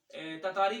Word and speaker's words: Tartary: ततारी भी इसे पढ़ते हैं कुछ टीचर, लेकिन हमें टीचर्स ने टैटरी ही इसे पढ़ाया है, तो इसको राइट प्रोनाउंसिएशन टैटरी ही है।